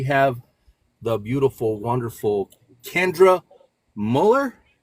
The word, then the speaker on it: Mueller: I am your host, Pedro Morales, and we have the beautiful, wonderful Kendra Müller. Yes, you pronounced it right.